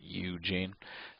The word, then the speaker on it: Eugene: When I worked at the car wash, there was a guy, his name was Eugene. And it was just like this, and he said you had to pronounce it Eugene.